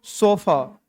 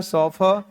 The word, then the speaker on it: chauffeur: क्या पढ़ते हैं इसको? सोफा। ए स्पेलिंग गलत है, CHAUFFEUR। ए होता है सोफा।